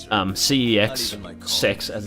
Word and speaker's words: CeX: But then, as far as I'm concerned, um, CEX Sex, as it's actually pronounced, which I'm pretty sure is a British one that do like pre-owned games and whatever.